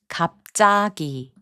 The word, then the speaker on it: 갑자기: In the last group of words, 지읒 changes its sound to 쌍지읒. 옷장, which means closet, is pronounced as 옷장. 잡지, which means magazine, is pronounced as 잡지. 갑자기, which means suddenly, is pronounced as 갑자기.